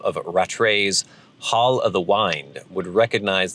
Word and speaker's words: Wind: the Wind, would recognize that the Y is pronounced like a long I, as in wind my watch. So I think I've said Hall of the Wind several times too, rather than speaking it with a short I, as in the wind that blows.